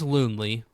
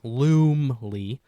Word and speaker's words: Loomley: James Loonley, well, that's not how you say his name. James Loomley sees a UFO crash in Montana in 1865.